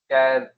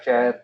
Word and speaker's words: char: numeric we have got care ware and text cloth and again they have got different syntaxes is when car share depending on how you want to pronounce it um is is when